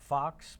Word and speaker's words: Facques: me on Facebook, Facques, but it's spelled Facques, just like the furry little animal, Americanized French.